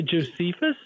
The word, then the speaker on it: Josephus: Did you say Josephus? Yeah, sorry. I wasn't pronouncing his name right.